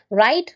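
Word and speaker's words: read: டன் சி சா scene ரைட் ரோட் written speak spoke spoken அடுத்தது பாருங்க ரீட் ரெட் ரெட் அதாவது ஒரே ஸ்பெல்லிங் தான். ஆனா பாஸ்ட்லயும் பாஸ்ட் பார்டிசிபிளையும் சொல்லும்போது உச்சரித்தல் மாறும். ரீட் ரெட் ரெட் அப்படி மாறும்.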